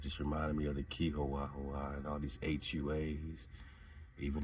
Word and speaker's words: Chihuahua: the Chihuahua is this Chihuahua, which lets you know that the Wah is the Wah, is the Wah. The HUA is Wah, because it's just Chihuahua, but it's HUA. So that's the pronunciation, Wah.